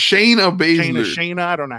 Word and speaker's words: Shayna Baszler: So it was Sonya Blazer and Sonya Blazer. What the Sonya? freak? I fucking know how to pronounce Shayna Baszler.